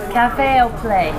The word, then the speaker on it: Café au Plat: Café au plat. Au plat? Yes. Oh, that makes sense. They play with the little kids. That makes sense. Okay. So, it's French, right? Yes.